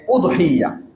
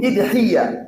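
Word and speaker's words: أضحية: সেখানে বলা হয়েছে কুরবানির শব্দটাকে 3 ভাবে উচ্চারণ করা যায়। 1 উদহিয়া, আলিফে পেশ দিয়ে। 2 ইদহিয়া, আলিফের নিচে জের দিয়ে। 3 দহাইয়া বা দহাইয়া, বিভিন্ন ভাবে পড়া যায়।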